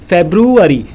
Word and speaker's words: February: इसमें FEBRUARY बी भी है और बी से ब बनता है, तो फेब्रुअरी उच्चारण होगा, फिर उसका हिंदी में अर्थ होगा फरवरी।